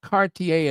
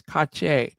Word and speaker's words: Cartier: And you have to say it properly. It's not Cartier, it's Cartier. Cartier. Cartier. Yeah, you got to say it like you just coughed or something.